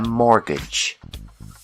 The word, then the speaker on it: mortgage: When you need a loan to buy a house, we call this loan a mortgage. The T is silent. Mortgage.